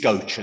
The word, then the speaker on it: Gocha: pronounce your name right is it gocha or goucher because i've heard people pronounce it different ways and i just want to get it right once and for all thank you leader it is gocha so you are pronouncing